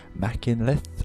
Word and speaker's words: Machynlleth: It's in central Wales, or just north of that, and it's called Mach loop because it starts at a town called Machynlleth, I believe is how it's said, but anyway, there we go.